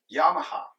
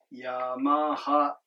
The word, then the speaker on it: Yamaha: Suzuki, Yamaha. Haha. Sounds so American. I like it. But in Japanese, they're pronounced as heiba. Alright? Suzuki, Yamaha. It just goes up and stays flat. Low, high, high. LHH.